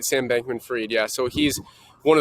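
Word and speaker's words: Sam Bankman-Fried: that is insane um yeah so i did pronounce that right sam bankman freed yeah so he's one of the richest guys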